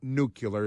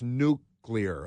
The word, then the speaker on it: nuclear: Look at the way it's spelled. Pronounce it that way. Come on. It's unclear to me why people can't pronounce nuclear. That's been true when I was 8 years old. I was correcting people. It's not nuclear. It's nuclear. Okay?